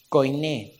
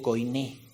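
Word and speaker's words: Koine: del idioma griego bíblico Coin eso es griego sí características del idioma griego bíblico Coin quiere decir K o i n e acento en la e co lengua común o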